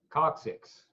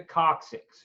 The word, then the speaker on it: coccyx: And then number 8 is the how do I pronounce that? Coccyx.